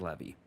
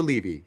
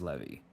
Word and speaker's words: Levy: the Brett clarification count, because apparently the correct pronunciation is in fact Levy or Levy. He says you can say both. You can say both, but apparently the the the more accurate pronunciation is Levy.